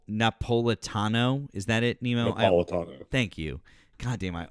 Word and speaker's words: Napolitano: Napolitano. Thank you. God damn, I always say his fucking name wrong.